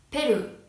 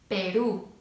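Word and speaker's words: Perú: キスタンパキスタン、ペルーペルー、スーダンスーダンのようにアクセントが、一番最後になります。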